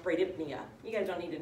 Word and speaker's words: bradypnea: it hypo ventilation or the very technical term is brady for slow and then pnea which represents breathing which is pronounced bradypnea you guys don't need